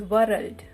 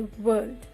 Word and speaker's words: world: Friends, we often say it is world. No guys, it is wrong. So R is a silent letter here. We are going to say world.